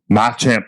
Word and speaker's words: Machamp: Machamp to the moon, Machamp, baby. I wanted to make sure I pronounced it right.